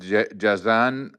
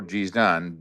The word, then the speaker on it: Jazan: a big town there called Jazan or Jizan depending on the pronunciation and it has a